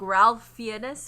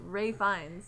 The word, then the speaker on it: Ralph Fiennes: It's pronounced like it says like Ralph Fiennes or something like that, but you actually pronounce it Ray Fiennes.